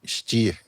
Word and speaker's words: Stier: Que deve ser dito Stir pronunciado assim.